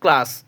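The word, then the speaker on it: class: এই সি এর পরে কনসোনেন্ট হলো সির উচ্চারণ কী করবো, ক করবো, সেই জন্য এখানে সির উচ্চারণ হচ্ছে ক। সি এল A double S, ক্লাস, সি আর আই এম E, crime.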